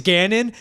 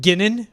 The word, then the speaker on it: Gannon: His name's Gannon, but I just messed up and I almost said Ginnon.